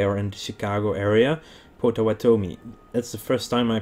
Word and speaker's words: Potawatomi: chicago and they are in the chicago area potawatomi that's the first time i pronounce it perfect without hesitation i mean oh